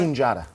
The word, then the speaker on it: Sunjata: Sunjada.